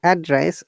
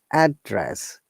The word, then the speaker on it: address: difference address and address when you're saying address our tone is going down we're stressing in the first syllable address when you're using as a verb we're stressing the second syllable address is rising intonation so that is the